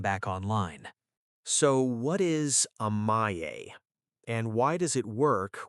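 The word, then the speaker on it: 甘え: So what is Amae? And why does it work where timeouts fail? Amae is pronounced A-ma-e.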